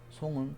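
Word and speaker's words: 送: 보낼 송, 예. 그 뭐 아픈 사람이 못 오니까 온 사람한테 보내겠죠. 기부의 의미를 가지고 있고 송은 중국말로 송입니다.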